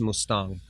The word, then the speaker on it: Mustang: There's the Mustang on the border of Nepal and Tibet. For whatever reason, I feel so deeply connected to that place. Mustang? Mustang. It's spelled Mustang, but it's pronounced Mustang.